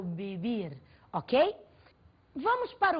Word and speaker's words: vivir: pronúncia em português vê em espanhol vê tem o som girlan muito próximo ao b do português portanto eu não falo vivir eu falo bibi ok vamos para o